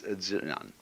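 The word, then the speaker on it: 自然: We use the word nature for the Chinese expression zi, ran. They pronounce J like a sort of unrolled R.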